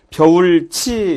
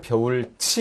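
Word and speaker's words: 벼훑이: 원래 벼훌 이렇게 해서 쓰이는 것을 이 발음이 벼하고 훌로 넘어가고 그 다음에 티읕이 국외음화를 이렇게 해서 벼울치 이렇게 해서 소리가 나는 거죠.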